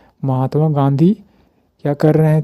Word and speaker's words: गांधी: Mahatma गांधी, right pronunciation गांधी, that means Mahatma गांधी जो है was wandering villages and cities to collect funds for चरखा संघ।